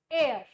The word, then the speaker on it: heir: We have to use N here because the pronunciation of the spelling H E I R is air.